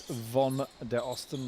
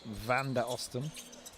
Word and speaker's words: Von der Osten: He's very clear. It's Von der Osten, not Van der Osten.